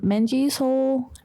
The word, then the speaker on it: Menjiseul: It's pronounced like soul, like my soul, like Menji's soul, but it's spelled different because I'm silly.